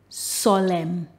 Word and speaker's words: solemn: Words that end with MN, the last letter is silent, the N. Autumn, column, condemn, damn, hymn, solemn.